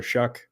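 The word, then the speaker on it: Shough: I had my doubts about, is it Shuck? Is that how you say that last name? Yeah, like you're shucking corn. Like shucking corn. Yeah, it's spelled GH on the end, but he has been good so far.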